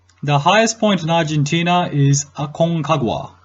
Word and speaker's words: Aconcagua: highest point Argentina is Aconcagua aconcagua depending on the Spanish language pronunciation I believe highest location in Aruba